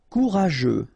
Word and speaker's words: courageux: Courageux. Final X not pronounced, and then you get this U, E, and G plus E. After that it's je, so je, okay? Courageux.